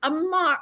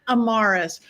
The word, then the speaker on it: Amarus: one and only Amar. I was gonna say your last name wrong, so I said your name wrong. Amarus.